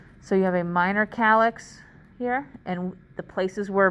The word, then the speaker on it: calyx: The singular is called calyx and it's spelled C-A-L-Y-X.